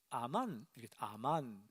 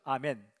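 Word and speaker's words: אמן: 충실한 자는 아만, 히브리 말로 많이 우리가 듣는 발음과 비슷하죠. 아멘.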